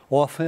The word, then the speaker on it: often: Pode pôr often também. Often é a pronúncia americana.